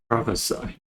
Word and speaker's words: prophesy: right next we have prophecy as a verb is pronounced as a prophesy so prophecy prophesy professor